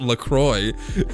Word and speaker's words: LaCroix: their whole thing is it's pronounced lacroix because it's supposed to remind you of enjoy enjoy a lecroy